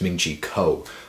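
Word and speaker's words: Ming-Chi Kuo: the iPhone 7 and man I pronounced his name wrong again it's Ming Co all right so very first thing he's saying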